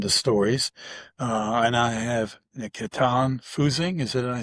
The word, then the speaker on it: Nikitan Fusing: And I have Nikitan Fusing, is it I say it right?